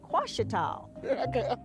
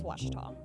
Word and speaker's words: Ouachita: Some folks think the O is a Q, and they say Quashita. Hey, Ouachita. Ouachita. Back in Texas, everybody pronounces it Wichita, but really, it's Ouachita.